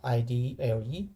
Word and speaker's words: IDLE: it's called idle yeah id led but people usually pronounce idle no let go page